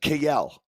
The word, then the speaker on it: Kiel: But that's our new pronunciation, Kiel, right? That makes more sense to me, to tell you the truth.